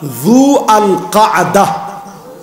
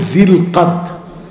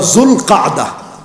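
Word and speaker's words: ذو القعدة: নাই তো না হয় নাই বলেন এক নাম্বার জু আল কাদাহ একেবারে শুদ্ধ ভাষায় হচ্ছে জু আল কাদা আমরা যেটাকে বলি জিলকাত এটার সবচাইতে সহি উচ্চারণ হচ্ছে জু আল কাদাহ অথবা জুল কাদা হুজুর কি কন হ্যাঁ দেখছেন হুজুর মাথা নাড়াইছে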